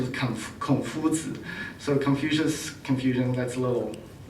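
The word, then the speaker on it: 孔子: The Chinese pronunciation is Confuzi, so Confucian, that's a little weird.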